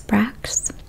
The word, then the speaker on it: Brach's: red hot equivalent candy is Brax. I think that's how it's pronounced. It's BRACH'S. And the grocery store didn't have the regular ones, it just had the sugar-free ones.